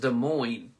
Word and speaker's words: Des Moines: So it's pronounced Des Moines.